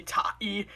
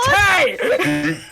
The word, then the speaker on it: Tay: those idiots who like didn't know how to pronounce Tay because I've had people come in and call me tahi and I was like what I looked at them with just like this face my name is Ty oh yeah oh yes